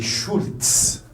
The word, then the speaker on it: Schulz: Le Z française, ça se prononce en allemand Z, ça s'appelle Z, et ça se prononce comme le TS, Z. Ce qui fait que c'est Schulz. C'est Schulz. Si c'était en français, il va vous dire c'est Schulz. C'est Schulz. En allemand, non, c'est Z.